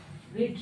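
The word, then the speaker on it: read: तीसरा फॉर्म भी हुआ रीड रेड ओके इसीलिए इसको आप थोड़ा सा माइंड पे रख लीजिएगा कि तीनों फॉर्म उसका सेम है बट पढ़ने के लिए प्रोनाउंसिएशन रीड रेड रीड पढ़ जाते है नंबर थ्री क्या माही सो चुकेगी?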